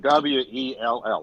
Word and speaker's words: Sowell: Sowell, like so well. So Sewell they pronounce it.